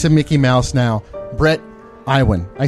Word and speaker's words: Iwan: everyone, the voice of Mickey Mouse now, Bret Iwan. I said it right. That's right. Good job. Yeah. Bret Iwan. Nobody gets that right. Really? What do they usually call you? Oh, Donald Duck? Iwan, Ewin, all over the place.